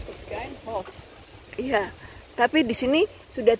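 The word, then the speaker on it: Begijnhof: Oh, suster-suster kerdil yang Begin and Begin Hof, namanya baca Begin Hof. Oke, itu yang saya lakukan terlihat di Amsterdam. Oke, ada Begin Hof juga di sini ternyata. Bacanya aja Begin Hof.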